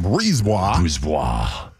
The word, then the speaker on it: Brisebois: So your boy, Julien Brisebois, mm-hmm. How do you say his last name? Brisebois.